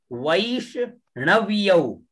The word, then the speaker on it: वैष्णव्यौ: पद्धति उसमें ण है, इसको ण का उच्चारण करेंगे, वैष्ण, आधा व और